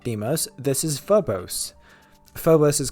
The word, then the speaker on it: Deimos: Deimos. That's how you pronounce it.